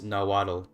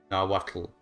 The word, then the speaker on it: Nahuatl: Yeah, in the IPA it's Nahuatl is how you say it in English, and then in Nahuatl it's pronounced Nahuatl. We have like the L with the T, more of a complicated sound for English speakers.